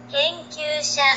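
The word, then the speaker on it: 研究者: Genkyusha. Gen, gen. Gen. Genkyusha. Pero después viene Kyu, que es Ki, Yu, Yu, Kyu. Y se dice en una sola sílaba.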